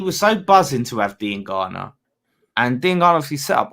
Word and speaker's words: Diangana: But there's wingers there I would have worked to see gone well before I wanted to see Diangana. That is how you pronounce it, Kojo.